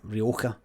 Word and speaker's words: Rioja: That's how you say it, Rioja.